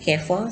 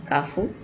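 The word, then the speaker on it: Carrefour: nestle tesco kafu kfc some some some people pronounce it careful some kafu kfc and mcdonald's we have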